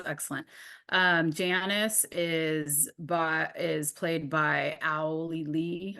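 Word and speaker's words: Auli'i: Janice is played by Owly Lee, I think is how you say it.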